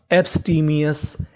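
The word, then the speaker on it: abstemious: लिखा मिले तो आपको ओ यू एस का उच्चारण करना है अस। तो मीनिंग क्या बनी हमारी? एब्स टी मी अस, एब्सटीमियस, एब्सटीमियस।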